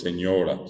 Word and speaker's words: señora: Y en ese caso, el acento está en la A, final, ¿verdad? Lo correcto para nosotros es señora, señora, palabra llana.